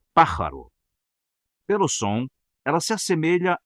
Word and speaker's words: pájaro: por exemplo a palavra pájaro em espanhol significa pássaro e pronuncia-se pararo pelo som ela se